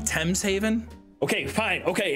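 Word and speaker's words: Thames Haven: out with these guys or head over to tames Haven am I pronouncing it wrong T's Haven okay fine okay it's T's Haven is there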